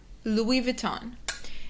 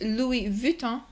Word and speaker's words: Louis Vuitton: Số 10 - Louis Vuitton Và ở Pháp là Louis Vuitton.